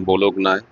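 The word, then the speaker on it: Bologna: দেখতে দেখতে ঢুকে গেলাম বলক নায়। যদিও ওয়ার্ডওয়াইজ বলক না কিন্তু উচ্চারণটা বেলোনিয়া। জি এর উচ্চারণ নেই।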